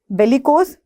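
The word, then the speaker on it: bellicose: तो बेलिकोस, बिलिकोस, बेलिजरेंट्स, बिलिजरेंट्स, ठीक है, कोई भी प्रोनाउंसिएशन यूज हो सकती है।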